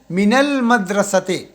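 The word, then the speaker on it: من المدرسة: निकल सकती हैम की तो देखें अल अलिफ खामोश हो जाएगा इसकी ये इसकी ये जो है खामोश हो जाएगा तो मिन मिनल मदरस मिनल मदरस मदरसे से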